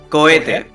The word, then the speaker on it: cohete: No, the H is silent. Cohete. Oh, cohete? Yeah, more or less.